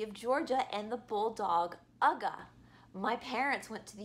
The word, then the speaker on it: UGA: And everybody wants to take a picture with Ugga. Ugga is spelled UGA for those who don't know, and UGA is the University of Georgia, so therefore, Ugga.